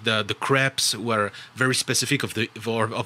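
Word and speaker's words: crêpes: Crepes. You said crabs, like the crustacean.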